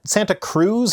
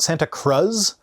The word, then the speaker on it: Santa Cruz: doesn't really matter but isn't it Santa Cruz not Santa Cruz like I know I'm not someone that should be commenting on other people's pronunciation me saying things wrong is kind of a running joke on my channel but Santa Cruz is a really easy one to get right even for us Gringos